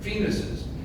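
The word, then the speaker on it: Phoenixes: plural of Phoenix and let me be clear on my pronunciation is penises fenes it will be a source of much teasing and ridicule I don't want the Parkwood mascot name anything similar to a body part that rhymes with penises Say It Isn't So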